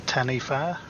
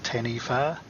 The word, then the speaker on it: taniwha: The local dragon is known as a taniwha or taniwha, depending how you want to pronounce it.